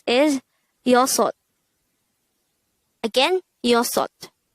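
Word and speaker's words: 여섯: Next, the native Korean version of number 6 is yosot. Again, yosot. This is composed of two syllables. The first syllable is yo, the second syllable is sot.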